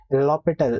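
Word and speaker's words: L'Hôpital: can apply the l h rule the aniki lopital l hospital or whatever you call it actually it is pronounced as l orbital so i i'll pronounce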